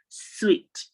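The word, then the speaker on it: suite: a co hotel and suit is pronounced sweet the same way you pronounce your sweet s-w-e-a-t is the same way you pronounce s-u-i-t-e switch repeat it after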